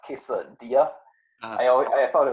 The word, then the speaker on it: quesadilla: answer but I actually did it no it's pronounced quesadilla I uh I thought it was Kissin Villa you know yeah it's funny because the same